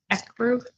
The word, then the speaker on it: ecru: And then this one is Ecru. Ecru? Ecru? How do you say that? Ecru? You accrue something? No, ECRU. Ecru.